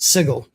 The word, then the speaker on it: Sigil: suggestion of Sigil, or as it is technically pronounced, Sigil.